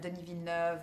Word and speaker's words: Denis Villeneuve: And tell us about the rest of the cast and working together, and Denis Villeneuve and Ridley Scott from afar. You pronounce his name very well. Yeah, well, I'm French educated.